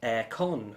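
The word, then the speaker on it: Airecon: And that's because it's for Aircon, spelled A-I-R-E, con, which is up in northern England.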